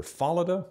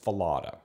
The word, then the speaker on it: Fallada: most often and because the germans tend to place the emphasis on the first syllable of a multi-syllable name in 1911 at the